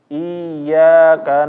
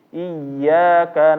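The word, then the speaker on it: إياك: al-fatihah al-fatihah ini iyaka orang-orang membacanya menjadi iaka na'budu wa iyaka nastain itu salah atau benar salah yang betul adalah dia ditekan karena dia ynya ini bertasdid yang menyebabkan suaranya agak naik sedikit iyyaka nabudu wa iyyaka nastain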